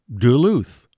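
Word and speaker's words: Du Lhut: That nobleman and French Marine was Daniel Greysolon, a.k.a., yes, Sieur Du Luht. And it was sometimes pronounced Duluth, even back then.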